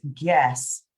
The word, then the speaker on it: guess: Whereas here, you pronounce guess without the U.